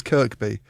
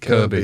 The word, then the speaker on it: Kirkby: Oh, by the way, it is Kirkby cuz someone got told off for pronouncing it Kirby on the Kirkby. Yeah, she goes the K there for a reason.